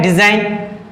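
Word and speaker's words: design: के पहले हो, तो वहां पर क्या जी साइलेंट हो जाता है। अगर एन के पहले आता है, जैसे कि ये क्या है, डिजाइन क्या है, एन के पहले क्या दिया है,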